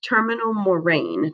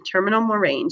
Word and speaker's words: terminal moraine: a couple years ago i had a student pronounce this that is not how you say it terminal moraine terminal moraine so moraines are deposits by glaciers and here's